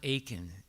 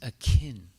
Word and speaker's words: akin: English not English it's it's not Aiken it's Akin Akin okay that means it's